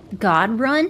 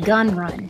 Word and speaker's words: Gunrun: is giving me anxiety godun it's pronounced gun run uhuh not this one